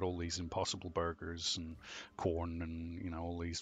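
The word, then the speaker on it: Quorn: fungus Fusarium venon artem probably not how it's pronounced the commercially brands it they commercially branded this wonder food as corn qu ORN not corn under the operating name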